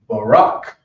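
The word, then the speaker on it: ברך: we'll cover the knee and the knee is pronounced Barack what's interesting about this rock that is also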